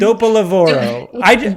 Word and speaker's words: Dopolavoro: Dopalova. Please welcome Emily Rutan. Emily, welcome. Thank you so much for coming. Hello, I'm just laughing at the pronunciation of Dopolavoro. Yes, that's how you say it. Dopolavoro.